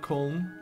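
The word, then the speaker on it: Köln: a lot with that I just know that the Germans call it col so it's like a k with a little o and a dots on l in kind of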